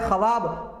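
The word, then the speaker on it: ख़्वाब: लिखा गया है खवाब पढ़ते हैं ख्वाब। लिखा गया है खवार पढ़ते हैं खारब। ये तीनों के तीनों वादुला है। यानी यहां पर वाव साइलेंट है।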